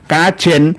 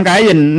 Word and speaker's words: Kajen: Kajen di daerah Pati itu ada di daerah ee Pekalongan juga ada kajen. Bukan kayen.